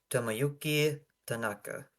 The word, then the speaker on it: Tomoyuki Tanaka: Tamayoki Tanaka. Did I pronounce that right? I can try it. Tomoyuki Tanaka.